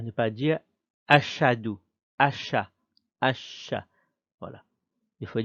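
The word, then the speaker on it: أشهد: Alors, on vient prononcer H. Ensuite, c'est Ha. Le Ha. Ensuite, c'est dou. C'est pas do, c'est dou. Ashhadu. On ne dit pas ashhadu. On ne dit pas ashhadu. Ashhadu. Répétez. Ashhadu. Autre erreur aussi à ne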